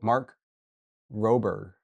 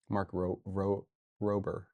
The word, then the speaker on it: Mark Rober: Oh, Mark Robber.